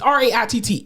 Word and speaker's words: Raitt: Just like y'all better Google goddamn Bonnie Raitt from which I think I say her name wrong all the time. Raitt, whatever. It's Raitt.